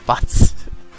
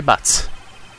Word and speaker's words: Butts: Is that how you pronounce his last name, or is it like Boots? My best friend since grade school. He has nice hair. Our school had a saying, when something smells, it's usually the butts. Okay, so that is how you say it.